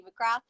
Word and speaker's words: McGrath: So my name is McGrath. I'm 23. Oh, Grant, sorry. Yeah, I know, it's well posh, but the TH is silent for anyone out there that cares.